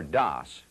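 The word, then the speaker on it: DOS: a disk operating system or das which rhymes with toss is like an office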